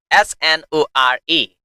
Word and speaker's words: snore: The pronunciation of this word s n o r e is snore. Snore. Into British accent there is raw silent sound at the in but you can pronounce a slightly raw sound into American pronunciation like snow.